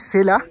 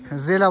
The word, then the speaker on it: Sela: আমরা বলছি সেলা, কিন্তু এখানে লোকালরা কিন্তু এটাকে প্রোনাউন্সিয়েট করে জেলা বলে।